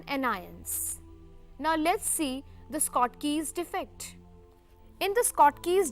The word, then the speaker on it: Schottky: from the crystal is known as Scott Key's defect you can pronounce it as Schottky defect also now since the cation